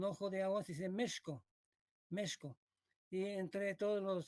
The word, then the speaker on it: México: es por eso que tenemos una palabra esdrújula méxico porque fue méxico méxico y luego debemos de ahí de mala depende tica se coló dentro de la palabra la pronunciación méxico es muy impresionante constatar